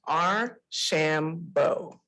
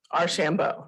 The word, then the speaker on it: Archambeau: that with all of you tonight it is our shambo our shambo right and i was so happy to have